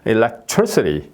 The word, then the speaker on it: electricity: 이제 리티가 아니고 예 옛날에는 시티라고 했었어요 예 저도 그렇게 배웠어요 예 처음에 배울 때 예 그런데음 지금은 발음이 어 추아 어로 이렇게 발음이 되는 거죠 그래서 electricity 예 이렇게